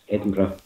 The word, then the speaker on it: Edinburgh: that is pronounced Burra, but Edinburgh is Burra, it's not Burra, it's Edinburgh.